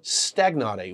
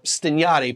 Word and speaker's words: Stagnari: to pronounce this way pronounce his name at least a couple ways you could be pronounced which should be the correct Italian pronunciation or stagnate which is probably the proper Spanish pronunciation I'll go with the